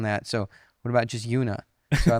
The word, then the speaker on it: Yuna: So Una is spelled YUNA. Yeah.